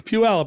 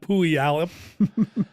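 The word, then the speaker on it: Puyallup: all over the world it's PE alip not puoy alip uh they were tied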